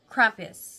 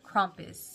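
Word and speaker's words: Krampus: sheep whatever it is into crampus or crompus I don't know how it's supposed to be said I think it's everybody says it's you're supposed to pronounce it crompus but anyways um so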